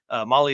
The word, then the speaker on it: Mahle: And for all you podcast listeners out there, Molly is spelled Mahle.